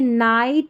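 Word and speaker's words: night: तो देखिए सबसे पहले अक्सर साइलेंट कब रहता है, जैसे नाइट, लाइट, राइट, हाई और डॉटर, इन सारी स्पेलिंग्स में जो हमारा GH है ना वो साइलेंट है। याद कर ले इन सारे स्पेलिंग्स को। तो यहाँ पर क्या है, हमारा GH साइलेंट, हम GH को नहीं पढ़ रहे हैं।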